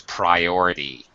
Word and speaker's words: priority: And also, this last word, it has a long I sound. It's priority.